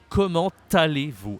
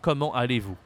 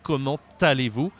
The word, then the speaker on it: comment allez-vous: So we make the link, the liaison here. So you have to say, comment allez-vous? And not comment allez-vous.